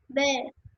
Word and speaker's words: vert: Not T. Do not pronounce T. Where. Yeah, where? vert, Yeah.